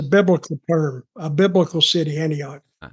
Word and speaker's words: Antioch: How do you even pronounce this? Antioch, Tennessee. Antioch.